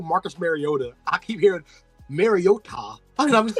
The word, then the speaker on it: Mariota: It was actually pronounced correctly. Really? From the Hawaiian pronunciation. Mariota. Mariota. Not Mariota.